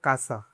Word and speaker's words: casa: For example, casa is pronounced "kasa."